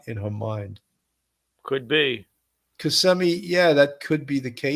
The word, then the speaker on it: Kissimmee: Kissimmee, Florida. I keep saying it wrong, Kissimmee. I know people say, you're saying Kissimmee. It's Kissimmee. Okay.